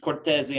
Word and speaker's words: Cortese: So on three, give me Cortese on three.